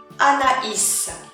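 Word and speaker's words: Anaïs: what i'm talking about ana isa ana isa ana isa so it's completely different from the regular in from the alphabet you know the 26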